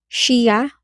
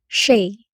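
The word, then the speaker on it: shea: Ang pag-pronounce niyan ay shia or she.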